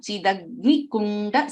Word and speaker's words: चिदग्निकुण्ड: Shri Mata, Shri Mata, Shri Mata, Shri Maharagni, Shri Maharagni, Shri Maharagni, Srimat-Simhasaneshwari, Srimat-Simhasaneshwari, Srimat-Simhasaneshwari, Chidagni-Kunda, Chidagni-Kunda, Chidagni-Kunda, Chidagni-Kunda, there is no dirgha there.